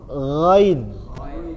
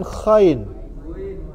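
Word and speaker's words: غين: Ain kir Hamzah ginin jangan Kin ya gain gainain gain gain jangan kain gho sama ko itu beda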